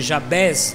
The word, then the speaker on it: Jabes: Primeiro livro de Crônicas 4, versículo 9 e 10, diz assim a palavra de Deus: E foi Jabes, ou se pronuncia Jabés, mas e foi Jabes mais ilustre do que seus irmãos.